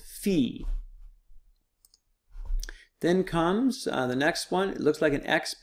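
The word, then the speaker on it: φι: Epsilon the next one looks like a frying pan if you see the little frying pan right has an F sound it's called fee then comes the next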